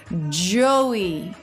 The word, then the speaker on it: Joey: a stressed syllable so the first syllable Joe is what stress the second syllable which is just the eval Joey e it just comes on the way down it doesn't have its own separate shape or feel it's just falling away from that stress syllable so it's really smooth